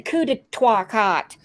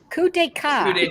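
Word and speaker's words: coup d'état: Bring back the coup de cock, whatever, coup de cock. Coup d'etat.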